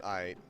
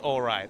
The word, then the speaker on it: aight: aight. Not pronounced alright. It's aight only.